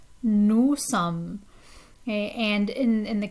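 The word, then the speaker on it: sommes: is we that's nu sum nu sum okay and in in the case of sum we're not pronouncing the last three letters they're silent okay so that's a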